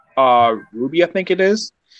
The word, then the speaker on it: RWBY: Yes, it's RWBY, which spells Ruby, but there's also like Team Orange or something like.